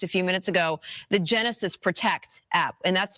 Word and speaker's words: Genasys: And then, of course, as Captain Burko was mentioning just a few minutes ago, the Genesis Protect app, and that's spelled GENASYS, Protect.